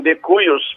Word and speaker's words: de cujus: Então, esse defunto, em vez de dizer defuntos toda hora, o latim criou de cujus, que é dito também de cuius, porque o J em latim pode ser pronunciado I. Depois tem esse que você